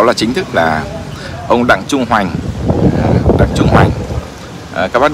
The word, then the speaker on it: Đặng Trung Hoành: thì thành Hoành n mình đọc là Đặng Trung Hoành chứ đừng nói là Đặng Trung Hoàng thì chết dở nhầm